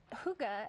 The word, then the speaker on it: Hygge: And this is how we say it, Hygge. This is how it's pronounced, Hygge.